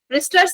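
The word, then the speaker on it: Brewster: ब्रिस्टर्स या क्या? W silent है ना, आई थिंक ब्रिस्टर्स बोलेंगे ना।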